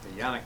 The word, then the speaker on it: Canik: We got here the TP9 and the Yannick TP9, I should say, or Canik, depending how you want to pronounce it. Everyone says it different ways.